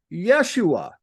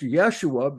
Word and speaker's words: Yeshua: you do that so Jesus name yosua was commonly pronounced Yeshua so as to avoid saying yah at that time now it's still pronounced Yeshua because you take those